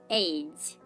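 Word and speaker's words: age: Next উদাহরণ দেখুন, giant, giant, দেখুন এখানে আমরা জি এর পর আই লেটারটাকে পাচ্ছি, কিন্তু এখানেও তার উচ্চারণটা বর্গীয় জ এর মতো হচ্ছে।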